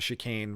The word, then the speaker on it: Chicane: get ready to bounce shy kane offshore the chicane really is the right way to say it offshore and left field